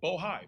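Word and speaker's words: Bohai: Cica Bohigh, I want to make sure I pronounce it right. Bohigh, B O H AI, and the list goes on and on.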